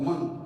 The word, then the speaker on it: monk: Of course, this N is always pronounced. We normally hear that pronunciation in this word, monk. So there's no silent consonant here that you're going to be tempted to think of monk or monk. No, it's monk. N is there.